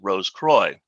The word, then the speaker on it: Rose Croix: Rose Croix is French for Rosy Cross, but more often than not, in Masonic circles, it is pronounced Rose Croix.